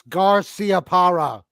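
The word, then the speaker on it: Garciaparra: that's what's getting me it's the way you're pronouncing the c it's garcia para well nothing but they're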